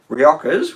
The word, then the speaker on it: Rioja: okay um so most riojas which is this is a reactor with a j yeah rioja yep yeah it's mainly